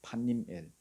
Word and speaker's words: 브니엘: 버니엘. 앞장 그 32장 그 30절에 보니까 야복 강가에서 하나님과 씨름했던 곳이 버니엘입니다. 하나님의 얼굴을 대면했다 해서 야곱이 버니엘이라 이름 붙였습니다. 원래는 발음이 판님엘이거든요. 판님엘. 그래서 한국어로는 버니엘로 번역했어요.